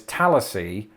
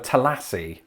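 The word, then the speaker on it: Tallassee: so hang on see put the emphasis on the first syllable so it's tallassy instead of telassi that's wild it's just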